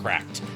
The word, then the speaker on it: CRKD: PC, I recommend the cracked Les Paul. CRKD is how you spell the company. It's pronounced cracked, but it's spelled CRKD.